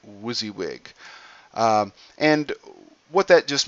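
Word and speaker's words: WYSIWYG: get uh editing window sometimes we abbreviate that Wuzzy wig so what you see is what you get people pronounce that wizzywig um and what that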